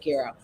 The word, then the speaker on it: gyro: And we each had a gyro that they told us, and I asked, how do you pronounce it? They said gyro.